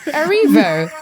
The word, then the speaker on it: Erivo: You have no idea how many times people mispronounce the Erivo in my name. So I was like, sure, Cynthia Erivo.